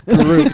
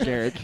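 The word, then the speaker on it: Garruk: It's Garrick, not It's Garuk, not Garrick.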